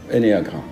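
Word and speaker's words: ennéagramme: Et vous allez vous retrouver, vous achetez le livre, ou c'est sur YouTube, sur Google, vous tapez énéagramme, comme ça se prononce, E-2-N, E-A, énéagramme.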